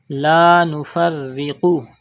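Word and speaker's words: لا نفرق: La Nufarriqu. Pronounce Qaf with thicker voice.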